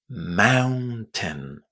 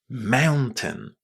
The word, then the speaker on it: mountain: The letters o u in the first syllable are pronounced as ow just as at the beginning of the word out.